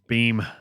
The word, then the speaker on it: Beam: that's bean beam not bean did i say bean again yes it's not mr bean it's beam is my name